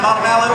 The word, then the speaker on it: Montevallo: Again, we're in Alabama, so we got to pronounce it that way. Did I get that right, Montevallo?